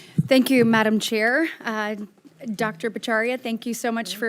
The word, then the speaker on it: Bhattacharya: Bhattacharya, thank you so much for, or how do you say it? Say it for me. I say Bhattacharya, but my cousins think I don't know how to pronounce it, Okay.